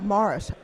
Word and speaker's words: Maurice: Maurice Fitscrof. Morris. Yes. We have to get the emphasis on the right syllable. That's how he pronounced his name.